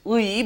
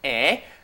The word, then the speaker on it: 의: The original pronunciation is 의, but since that's very hard to pronounce, people say 에.